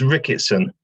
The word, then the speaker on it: Rickatson: Yeah, it's Rickatson. I mean, it's not that difficult. So I apologize. So Rickatson.